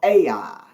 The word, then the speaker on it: Ai: city over there called Ai. And it's spelled just like it sounds, A-I.